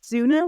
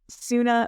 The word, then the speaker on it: Soona: say to people, it's sooner which rhymes with tuna, not sooner like Sonos, right?